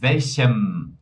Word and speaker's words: welchem: né, com a pronúncia, tudo aquilo, pessoal, que termina em n de navio, olha só a pronúncia, ó, den, den. Perceba que meus dentes estão aparecendo, certo? Agora com m, né? M de Mateus, né? Olha ali, ó. Mit welchem fechou o lábio.